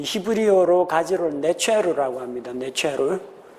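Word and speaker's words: נצר: 네체르. 이 네체르라는 발음은 예수님께서 자라나신 고향 나사렛이라는 그 발음과 매우 흡사합니다.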